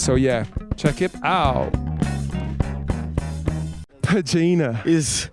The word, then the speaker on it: Padjinha: Padjinha. How the hell are you? Yo, pronounce your name properly for me, because I feel... Padjinha. Nya. So there's a nya now. Padjinha.